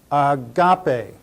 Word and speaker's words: agape: English it would be a g a p long e pronounce it Agape Agape Agape Agape let's